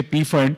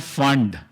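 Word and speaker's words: Pfund: I was aware you are going to say P-fund. It is never P-fund. It's only called fund. P is silent there.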